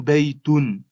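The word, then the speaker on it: بَيْتٌ: Donc ce signe-là m'a permis de comprendre que il faut prononcer à la fin du mot le son n. Donc ça me donne baytun.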